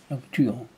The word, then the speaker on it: Lauturo: Lauturo. Lauturo. On redit? Ouais, vas-y. C'est l'accent tonique qui n'est pas sur la dernière syllabe.